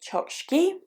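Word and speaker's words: Chokshi: me next up is roshni chokshki I believe is how you say the surname so roshniotsky is a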